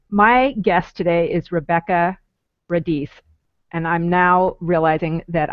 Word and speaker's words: Radice: My guest today is Rebekah Radice, and I'm now realizing that I may not have pronounced that right. Rebekah Radice. No, you did. Radice.